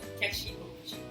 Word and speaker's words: Kechi Okwuchi: Yes, please, your son is going to help me pronounce it so I don't cheat. It's just Kechi Okwuchi.